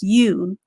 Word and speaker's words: you: excellent for those of you who got it right this word is pronounced you just remember in this particular word the o is silent so even though it's